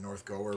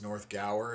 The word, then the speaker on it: North Gower: I I've just always said North Goer, but it's North Gower is apparently the right way to pronounce it.